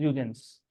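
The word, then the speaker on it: Huygens: जिसको हाइजेंस बोलना हाइजेंस बोलो, I don't mind, but इट इज यूजेंस, क्योंकि यहाँ पे एच नॉर्मली प्रोनाउंस नहीं होता, ठीक है, doesn't matter what is इन the name.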